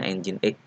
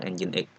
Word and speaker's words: nginx: ini adalah engine.exe nginek ini ya bacanya engine.exe kalau kita baca secara kontekstual seperti ini ingin begitu bunyinya tapi ini bacanya adalah engine.exe oke Ini adalah sebuah